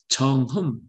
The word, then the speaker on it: 정음: 이것이 이 품어나온 소리, 그러니까 이제 정음, 우리가 이제 정음, 이 음이라고 발음을 하지 않고 우리는 잘 발음하면 정흠, 살짝 그 발음이 나죠.